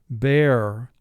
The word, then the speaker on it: bear: We have 3 sounds, B, A, Bear. First thing we do is we mark teams. We identify silent E at the end of the word.